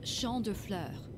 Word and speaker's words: Champ de Fleurs: Chaps De Fleurs? How do you say that? It's Champ de Fleurs.